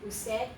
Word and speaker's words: usted: This is, all three of them are usted, usted, usted. Even if they're written as an abbreviation, you still say usted.